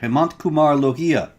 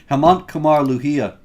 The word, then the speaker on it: Hemant Kumar Lohia: A senior Hindu police officer, Hemant Kumar Lohia. I think I pronounced that one pretty well, actually, David. You got it. Anyway, Hemant Kumar Lohia.